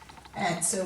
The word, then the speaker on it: answer: So we've got wreath, wrench, writer, wrapper, wrestle, wriggle, wrinkle, wreckage, awry, and answer.